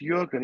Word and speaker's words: Jürgen: Okay, so Jürgen, it's pronounced Jürgen, even though it's got a J, because I'm assuming it's German or North European.